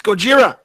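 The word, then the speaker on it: ゴジラ: Godzilla Kira no it's goira Kira in Japanese it's Gojira there we go all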